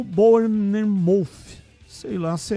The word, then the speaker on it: Bournemouth: Vasco acertou a venda de Ryan para o Bournemouth. Sei lá se é essa a pronúncia correta. Repete aí. Bournemouth.